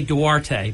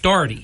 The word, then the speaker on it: Doherty: I was going to say Duarte. Yeah, that's what I said in the parking lot. Say it again. Rhymes with 40. Doherty.